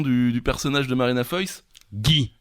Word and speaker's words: Guy: Bon, la réponse quand même, le nom du personnage de Marina Foïs, Guy. Gay. Gay. Gay. Ok. C'était ça la blague, vous vous souvenez pas? Guy. Ils arrivent pas à prononcer le mot Guy.